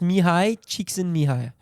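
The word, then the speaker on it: Mihály Csíkszentmihályi: J'ai bien prononcé le truc, ça s'écrit Mihaly Csikszentmihalyi, mais ça se prononce Mihai Csikszentmihalyi.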